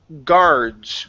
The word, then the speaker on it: guards: And your last one here is the word guards. Right here. Guards. Guards. Yeah, so that U does not make a sound. You don't want to say guards or anything like that, you guys. It's only guards.